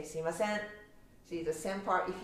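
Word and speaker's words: すいません: Like in Tokyo, I would say Suimasen. I say Suimasen. So again, it's mine is accent is on the very last sen part, but yours was at first. So you can kind of be like Suimasen, and at the end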